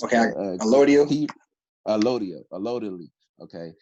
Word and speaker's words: allodial: I can't really pronounce the word the way you say it. It's okay, allodial? Allodially.